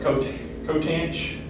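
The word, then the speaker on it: coth: Cotanch. Yeah, they usually pronounce that. Got my X on that one. Yeah, they usually go with cotanch on that.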